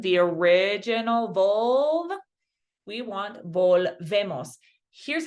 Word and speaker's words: volvemos: Vuelvemos is wrong because it has vuelvemos. We want volvemos, right? One point of emphasis within every word.